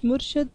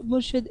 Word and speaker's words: murshid: and it says that actually the word is murshad, but in Urdu, the one that you follow, for them the word murshid is used, and that is the correct pronunciation.